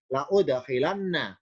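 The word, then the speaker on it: لأُدْخِلَنَّ: Contoh Ali Imran 195 berbunyi wala udkhilanna, lau lamnya fathah hamzah doma, la udkhilanna.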